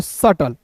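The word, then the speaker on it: subtle: एस यू बी टी एल ई को सटल।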